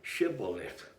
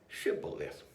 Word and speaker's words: shibboleth: friend or Foe and the ability to correctly pronounce the word shibboleth which means here of corn is now the